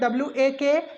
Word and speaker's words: walk: Next अगर हम लोग देखें जैसे WALK, तो हम लोग लिखते हैं WALK लेकिन पढ़ते हैं WAK।